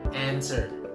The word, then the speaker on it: answer: working wrong it's incorrect it's supposed to be answer ANSWER Answer okay okay what about this word howdy pronounce potato potato so exactly the same many